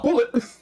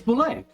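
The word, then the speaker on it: bulette: It's not bullet. It's boulet. Yeah, it's boulet. Yeah. It's a French word.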